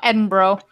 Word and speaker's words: Edinburgh: Well, considering you can't say Quebec, I might as well just, you know, Edinburgh.